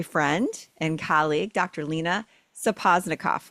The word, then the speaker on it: Sapozhnikoff: Lena Sapozhnikoff, right?